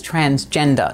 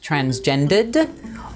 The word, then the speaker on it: transgender: transgender first of all the word is transgender not transgendered or transgender a common mispronunciation but it means that